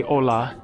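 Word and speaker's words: olá: So in Portuguese you say hola the same as in Spanish. It is spelled differently. OA without the h.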